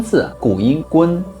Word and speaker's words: 昆: The ancient pronunciation of the word Kun, gūn, definitely does not mean the sun, because the sun has already been represented by day.